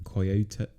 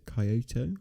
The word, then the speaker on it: Kyoto: the last song alone in coyote kyoto is that how you pronounce it kyoto no it's alone in kyoto kyoto okay yeah i